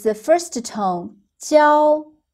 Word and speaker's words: 教: Remember when we learned classroom, the pronunciation was 教, the first tone, but here when it's a verb, it's the first tone, 教, 教.